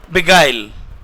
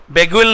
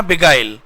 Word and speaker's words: beguile: Number 5 है बिगाइल। बेगुल नहीं है, इसका प्रोनाउंसिएशन है बिगाइल।